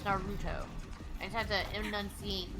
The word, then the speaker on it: Naruto: been saying it wrong i've been saying naruto it's not can you not be a giant ball it's naruto i just have to